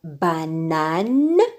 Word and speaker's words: banane: Mais dans banane, le A-N, le A se prononce seul, N se prononce seul.